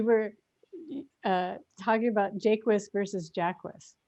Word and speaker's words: Jaquis: But then, you know, everyone wants to be all socially conscious and say it Shaki or Hakis, however they think it's, if they think it's French or Spanish, but I say Jacquist.